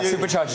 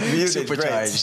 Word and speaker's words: Supercharged: Supercharged. You did right. Supercharged. Yeah, you can't forget the D.